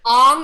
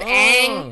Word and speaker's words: Aang: They said, I think Ong instead of Aang.